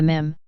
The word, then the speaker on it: meme: gene the basic unit of mimtix is the mim rhymes with equipment however unlike an atom or electron